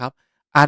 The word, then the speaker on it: い: ขวา ครับ เหมือน วาง ไม้ ไว้ ด้าน ซ้าย อีก ไม้ นึง ไว้ ด้าน ขวา อ่าน ออก เสียง